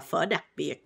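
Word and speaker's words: phở đặc biệt: But how you pronounce it in Vietnamese is pho đặc biệt, which means like special pho.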